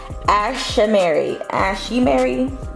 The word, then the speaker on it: Ashimary: So today I have a video from Ashimary. You see it right there. That's how you pronounce it.